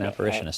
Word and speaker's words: apparitionist: Yeah, it's an apparitionist.